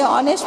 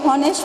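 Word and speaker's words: honest: ठीक है, काजल is dash ऑनेस्ट girl, इसे ऑनेस्ट पढ़ेंगे या हॉनेस्ट पढ़ेंगे, आप पढ़ते हैं ना हॉनेस्ट। एच क्या होता है, साइलेंट होता है। एच क्या है, क्या है, कॉन्सोनेंट है ना, मगर एच तो साइलेंट होता है, तो प्रोनाउंसिएशन क्या आ जाता है इसका, ऑनेस्ट।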